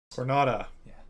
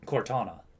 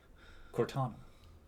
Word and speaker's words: Cortana: Cornata from... Cortana. Cortana. Come on, pronounce the names right. Cornetta? Cortana. The Cornelia system needs your help, Star Fox.